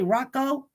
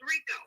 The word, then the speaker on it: RICO: Am I saying it right when I say Rocco? Uh-oh. Hey, this is is not, hey, Okay. Am I saying it right when I say Rocco? No, it's Rico.